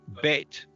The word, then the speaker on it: Bet: under the second letter, you've got Bet, which with no dot in the middle is pronounced like a V, so V. And with the dot in the middle, it's pronounced like a B, so B.